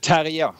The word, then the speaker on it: Terje: Terje, that's first name. Okay. Terje, that's a Norwegian name.